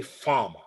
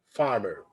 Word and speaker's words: farmer: So we say farmer, farmer. But in the American accent, farmer, farmer, farmer. So you pronounce the R sound in the American accent everywhere.